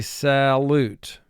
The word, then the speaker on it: salute: In conversation, we would pronounce it salute, but for spelling purposes, salute.